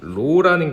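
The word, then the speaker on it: ρ: 그러면 또 다른 게, 우리가 이제 잘 못 보던 값이 로라는 게 있는데, 얘는 로 또는 로우라고 읽고, 얘가 이제 밀도라 그래요.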